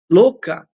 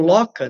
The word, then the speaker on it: Loka: Louca, ou Loka, né? É louca, na verdade, a pronúncia em sânscrito.